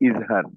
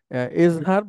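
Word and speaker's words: إظهار: আমরা এতদিন তো জানতামহার তো উচ্চারণটা একচুয়ালি ইজহার আরবিতে ওই এটা হয় না মানে একার যেটা হ্যাঁ ওইটা আরবিতে হয় না বাংলায় হয় বা বাংলায় মানুষ করে যেটা জেরের উচ্চারণ আমরা তো রসিকারে হয় আরবিতে যদি আপনি করেন এজহার বাংলায় একে বলে আর কি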